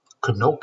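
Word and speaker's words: Chanoch: Canok is how you say the name.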